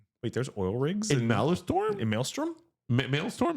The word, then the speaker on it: Maelstrom: Wait, there's oil rigs in Malistorm in Maelstrom. Mailtorm. Is it maelstrom or malistorm? It's spelled m a e ls. I think it's s t r o m. So I think it's malstrom.